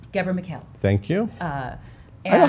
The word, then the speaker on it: Ghebremichael: Gabra McHale.